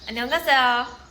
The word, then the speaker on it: 안녕하세요: अब बहुत आता है आपको पता कोरियन में कैसे बोलते हैं हेलो, कैसे 안녕하세요। गलत प्रोनाउंसिएशन था, ऐसे होता है वो 안녕하세요।